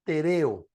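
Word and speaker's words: τηρέω: para guardar o perseverar esta palabra es tereo así se pronuncia es la palabra tereo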